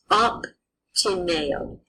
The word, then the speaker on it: obtineo: The letters BT in the word OBTINEO would be pronounced optineo.